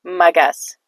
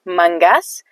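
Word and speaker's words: مگس: Now, some Dari speakers will say mangas. It's not mangas, okay, that's incorrect. It's magas. Alright, magas. But sometimes when native Dari speakers speak so fast, sounds like mangas. Mangas, mangas. It's magas.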